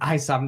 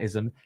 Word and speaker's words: Isom: It's Isom, not Ism. It's so tempting to say Ism.